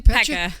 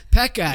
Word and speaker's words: Pecha: Pecha. Pecha.